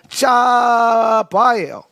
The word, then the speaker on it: צוה: 이 짜베의 원형은 똑같은 스펠링으로 짜바예요. 짜바라고 읽어요. 짜바.